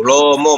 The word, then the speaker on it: LOMO: Lomo bacanya ya, bahasa Rusia.